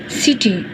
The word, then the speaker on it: city: वी say that the accent और stress in the World सिटी इज़ ऑन the first syllable सिटी, यानी हम जब